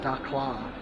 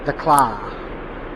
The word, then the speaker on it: Dakhla: I think it's more like a Dakhla, that's how you say it.